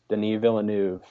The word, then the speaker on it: Villeneuve: Denis Villeneuve. That's how his name's pronounced, right?